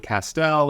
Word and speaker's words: Castel: my name is Castel it rhymes with pastel my grandfather was a